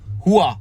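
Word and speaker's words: rua: but they pronounce it, it's R-U-A, and it's Hua. Hua.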